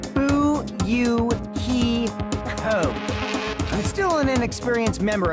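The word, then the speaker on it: Fuyuhiko: last name is my first name is pronounced boo you he code i'm still an inexperienced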